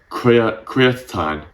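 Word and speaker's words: creatinine: your body called and I'm going to make sure I say this right it is called C creatin it's spelled c r e a t i n i n e I can just never say the word it raises this in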